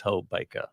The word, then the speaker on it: Hobaka: The key is remember Leica. It's Hobaka.